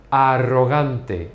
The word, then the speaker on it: arrogant: You don't pronounce the R's as strong as we do. Even though you have both here and both here, so we say arro, and in English we say arrogant. So it's much softer in English.